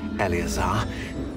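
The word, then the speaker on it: Eleazar: I must say I best not speak here elazar El that's how you pronounce it why don't we speak on route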